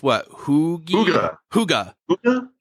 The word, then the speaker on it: hygge: was pronounced what hugi Huga Huga Huga Huga kind of like a hooka but not yeah and and I read